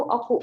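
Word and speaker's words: 奥: Cara bacanya itu oku.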